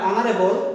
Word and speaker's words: honorable: She is honorable person. This word we will pronunciate honorable, not honorable, not honorable. For this, we will use here N instead of A.